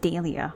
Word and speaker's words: Dahlia: And it happened right here in Daily View. Oh, it's called It's pronounced Dia.